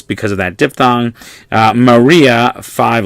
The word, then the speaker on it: Maria: go in order alright they're pronounced separately so you might remember Maria when we talked about I versus J or vowel versus constant so these are two vinyls in order this I a right but because they are not a diphthong they're not on this list they were just pronounced separately so Marya and as I said